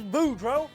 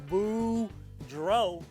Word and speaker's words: Boudreau: ya hey everybody my name is boudreau that's pronounced boo dro and i'm here to